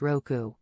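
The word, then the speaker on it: 六: Well, in Japanese, the number 6 is pronounced roku, which sounds similar to the word for luck.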